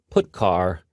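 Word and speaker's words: putchar: these three are the most popular they are pronounced print F put car and puts each function is designed to send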